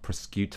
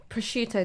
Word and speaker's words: prosciutto: it's problematic that people chose gammon and not prosecute Oh prosciutto darling prosciutto so he pronounced it was she said a hammer I